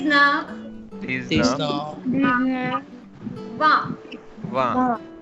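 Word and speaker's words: vingt: Wa. Wow. G is silent here. G and T both are silent. And so we are calling it wa.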